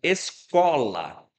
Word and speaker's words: escola: Por exemplo, a palavra escola é uma paroxítona e não é acentuada.